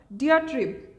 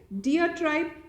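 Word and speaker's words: diatribe: What is the antonym of the word डियाट्रिब? या ठीक है, डियाट्राइब या डायट्रिब, देयर आर वेरियस वेज कि लोग इसको प्रोनाउंस करते हैं।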